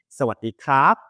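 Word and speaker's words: สวัสดีครับ: Sawadee krap.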